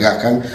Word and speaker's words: Gahan: me va a corregir porque la pronunciación correcta es Gahan, pero si vos decís Ghan en salto, nadie te que decir Ghan.